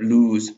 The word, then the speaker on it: lose: between loose and loose the two words have the same vowel but they are different but they are different because of the consonant after it we have lose lose now let's have